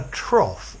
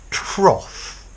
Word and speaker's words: trough: Trough, as if it ends in an S, in an F, sorry. It sounds like coffee. Trough, coffee, okay?